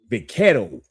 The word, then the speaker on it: vaquero: The Mexicans, they have a Spanish term for it, is vaquero. That's how they say it, vaquero.